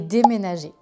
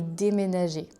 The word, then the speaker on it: déménager: Quelle est la différence entre emménager et déménager? Emménager, déménager. Déjà pour la prononciation c'est presque le même mot, il y a juste en, voyelle nasale, et dé qui fait la différence.